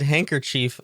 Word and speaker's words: handkerchief: that tuck your scented handkerchief under his pillow you know you have a scented handkerchief how are you pronouncing that handkerchief handkerchief yeah chiff but it's spelled Chief yeah but that's you